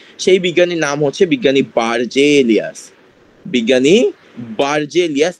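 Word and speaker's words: Berzelius: বার্জেলিয়াসের সালটা ইম্পর্টেন্ট। 4 নম্বরে যে বিজ্ঞানীটার কথাবার্তা বলছে বা যে বিজ্ঞানীর কথা উল্লেখ আছে, সেই বিজ্ঞানীর নাম হচ্ছে বিজ্ঞানী বার্জেলিয়াস। বিজ্ঞানী বার্জেলিয়াস, ইংলিশে এটাকে উচ্চারণ করলে আসে বুর্জেলিয়াস। ঠিক আছে?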